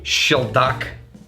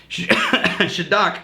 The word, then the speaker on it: Shieldaig: Well, what I mean is that in your area, if you can get, and I think it's pronounced Shieldaig, if you're getting the Gaelic right.